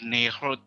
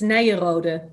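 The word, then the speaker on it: Nyenrode: are the representative of nehru university am i saying it uh correctly yeah i know the pronunciation is is terrible actually for international purposes it's nairode in dutch okay yes correctly now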